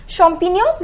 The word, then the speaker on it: champignon: take the champagne some onions and some mushrooms champignon which means mushrooms now one more time just remember the pronunciation of gns no it is no one